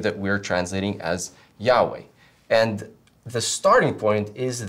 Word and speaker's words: Yahweh: But then we go on and we ask, okay, so how do we know that Yahweh is the right way of pronouncing it?